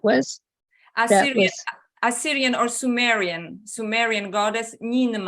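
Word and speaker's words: Ninmah: Assyrian or Sumerian goddess Ninma. Right. Ninma? Ninma. How do you spell that?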